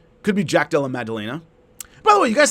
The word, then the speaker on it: Maddalena: I'm not saying Magdalena. I'm saying Maddalena. It may sound like I'm saying Magdalena, but I'm not. I know how to say his name. So, anyway, I'm saying a D.